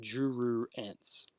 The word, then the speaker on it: jururense: It is actually jururense. At least that's how I pronounce it.